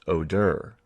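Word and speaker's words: Óðr: are on other websites one word is odr pronounced oder this as well as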